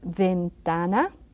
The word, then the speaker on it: ventana: our alphabet letters so we can practice our pronunciation. Let's go to the last few letters that we have left is V, as ventana, which means window.